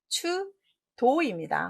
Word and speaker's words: 추도: 답은 추도입니다. 혹시 높을 탁 보고 탁 발음하지 않으셨어요?